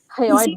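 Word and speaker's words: hyoid: Ma'am पंगे इसका एक बार प्रोनाउंसिएशन कीजिए ना, सिर्फ लास्ट वाला किसका? वन, HY। हायोइड bone, हायोइड bone, okay okay.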